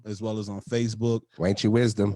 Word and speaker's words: Wanch: Wanchy Wisdom. Wanchy Wisdom on Instagram, Facebook, and everything else. Wanch. WANCH. If you're from Memphis, how they say it? You gotta say it the Memphis way though.